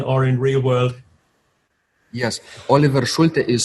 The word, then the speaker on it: Oliver Schulte: everybody uh online or in real world yes Oliver schul is spelled o l i v e r s